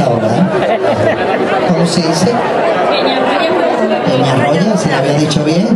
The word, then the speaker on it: Peñarroya: tenemos músicos de Romanos de Villanueva, Dos Torres, Perrañova o... no, Peñarroba, ¿no? Pero bien. Es que hay que, con el fresquito que hacía esta mañana, la calor que hace ahora, ¿eh? ¿Cómo se dice? Peñarroya, si lo había dicho bien, no sé para qué.